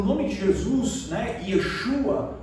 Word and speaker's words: Yeshua: E isso é tão extraordinário porque o nome de Jesus, né, Yeshua, como alguns dizem, se pronuncia dentro da cultura judaica, dentro do hebraico, Yeshua significa o Senhor salva, dado a expectativa no nome de Jesus.